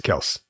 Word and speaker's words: Kelce: But they were just talking to their dad, and he was like, yeah, it's Kels. Oh, wow. But they just went around going Kelsey, and they're like, yeah, whatever, it's fine.